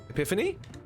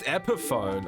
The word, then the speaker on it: Epiphone: a subsidiary of gibson epiphany i think correct me if i'm wrong oh it's pronounced epiphone oh more the more